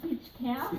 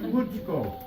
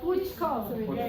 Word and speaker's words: Bytschkow: It's Bytschkow. Bytschkow. And it's spelled how? But That's the question, it's always are. Yeah, but it's a German spelling.